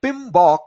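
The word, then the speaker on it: PMBOK: project management I'm sorry so pinok that is how we pronounce pronounce this pinok uh PM becomes pinok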